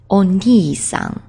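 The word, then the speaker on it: お兄さん: He is oni-san, oni-san. Whereas our own older brother, he gets just a kanji and he's pronounced ani.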